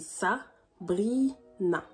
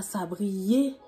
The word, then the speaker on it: Sabrina: Certains n'arrivent pas à correctement prononcer le nom de la chaîne, c'est Sabrina, pas Sabriena.